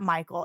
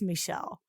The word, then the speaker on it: Michel: I'm like, it's not Michael, it's Michel.